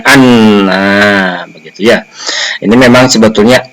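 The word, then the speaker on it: أنّ: Anna anzalna. Nah, di sini anna itu menjadi fa'il, maka dibaca fathah hamzahnya, ya, huruf hamzahnya dibaca fathah. Jadi bacanya anna, begitu ya.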